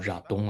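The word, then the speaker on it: 喇东: 的这个叫喇东啊，藏文发音是喇东，就是一种长号。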